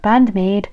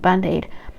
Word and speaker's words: Band-Maid: And I I know that Band-Maid Band-Maid, not Band-Aid. Band-Maid is so different.